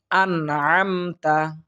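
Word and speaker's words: أنعمت: এরপর দেখুন আনআমতা আনআমতা এখানে লক্ষ্য করুন এখানে কিন্তু আমরা অনেকেই আন বলে গুন্না করে থাকি এখানে কিন্তু একেবারেই গুন্না হবে না এখানে ইজহার উচ্চারণ হবে অর্থাৎ স্পষ্ট করে আপনাকে পড়তে হবে আমাকে পড়তে হবে সুতরাং আন আন অর্থাৎ নুন সাকিনের বামে আইন এসেছে অর্থাৎ এখানে ইজহার করে পড়ার চেষ্টা করতে হবে আমাদের মনে রাখা উচিত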